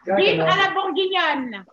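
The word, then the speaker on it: bœuf à la bourguignonne: How do you pronounce it again? Beef what? It's a gajajou. No. Beef à la bourguignonne.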